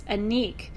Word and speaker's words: Annick: name, and I'm like, it's an E. It's a long E, right? Anyway, but some of your names, you have to Anique. So it's Anique. Like Anique Goutal.